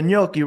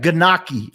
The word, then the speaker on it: gnocchi: Or like when you ask the gnocchi, right? People be like ganaki. I'll be like, yo, get out of here, man.